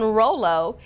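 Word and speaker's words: Rolo: example would be Rollo if you look at the two syllables in Rollo each syllable ro being the first syllable has a long vowel sound and it is not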